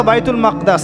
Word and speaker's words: বাইতুল মাকদিস: এই বোরাক চলে গেল বাইতুল মাকদাস এটা কোথায় বাইতুল মাকদিস সরি বাইতুল মাকদাস না বাইতুল মাকদিস বিভিন্ন মানুষ বিভিন্ন উচ্চারণ করে এটা হচ্ছে প্যালেস্টাইন কোথায়